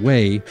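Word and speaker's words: Wey: W-E-Y is how that's spelled, Way.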